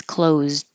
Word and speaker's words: closed: S at the end close the past tense close you don't hear the D unless there's a vowel after like I closed it but just by itself the door is closed you just hold the D which I didn't put